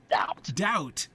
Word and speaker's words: doubt: D O W T, but doubt. Okay. That's not orthographic. Okay. We're just skipping the silent B because who needs it?